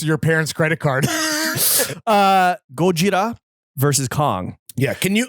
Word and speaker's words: Gojira: japanese creation of course the original the actual name is gojira you